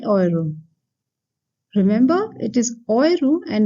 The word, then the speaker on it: Euro: Remember, it is Euro and not Euro, because EU anywhere in the word should be pronounced as Oi.